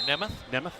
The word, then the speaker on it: Nemeth: Let's go short E there, Nemeth.